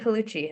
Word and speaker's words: Colucci: How do you pronounce it? Is Colucci? Is that right? Yeah, Colucci.